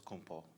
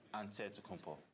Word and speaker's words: Antetokounmpo: how you pronounce it the nigerian way you gotta say with the d so it's added to kumpo but in the greek way you say with the nt like antetokounmpo whatever you got just say